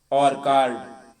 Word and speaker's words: orchard: ऑर्कार्ड, ORCHARD, ऑर्कर्ड होता है, ORCHARD, ऑर्कर्ड पढ़ा जाता है, ऑर्कर्ड, ऑर्कर्ड।